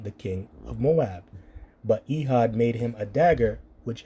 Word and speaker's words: Ehud: And Ehud, or Ahawad, that's his name, Ahawad, when you pronounce it in the Paleo, came unto him, and